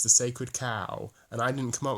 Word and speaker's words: Chao: cow the sacred cow it's pronounced cow and if that you thought it was pronounced Cho like in [ __